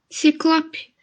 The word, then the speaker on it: ciclope: A outra palavra, o O é aberto, tá? Tenta pronunciar. Ciclope.